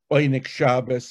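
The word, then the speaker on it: Oyneg Shabbos: organizing the secret uh bainich shabbos i'm using the yiddish uh pronunciation the secret ink shabbos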